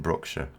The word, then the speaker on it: Brookshire: We would pronounce it Brookshire. We never pronounce any name, although we pronounce the word Shire, Shire, we never pronounce the name of any place that has Shire in it as that. It's always Shire. It's always shortened.